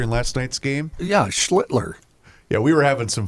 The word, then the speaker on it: Schlittler: Yeah, Schlittler.